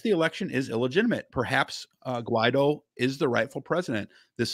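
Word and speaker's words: Guaidó: and a self-inaugurated conservative Juan Guaido, I believe you say it, or Guaido, who is in power. It's Guaido. I honestly have heard it pronounced a couple different ways.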